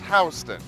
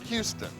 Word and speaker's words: Houston: Street on the east side and yeah it's pronounced hon not Houston if you said you were hanging out on